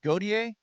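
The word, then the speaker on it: Gotye: It's pronounced Gautier.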